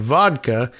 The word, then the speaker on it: Woodka: Chris Woodka said it's W O D Ka, which sounds like the Russian pronunciation of vodka.